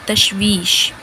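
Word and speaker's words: تشویش: Third word है हमारा तशवीश।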